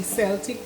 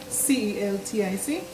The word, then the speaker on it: Celtic: Some people say Celtic which is spelled C E L T I C.